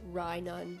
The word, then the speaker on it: Rhynun: my Minun, which I named Rhynun, like rye bread, Rhynun, rhymes with Minun.